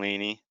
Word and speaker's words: Lanie: treatment while remaining productive at work so welcome lainey i look forward to hearing more about you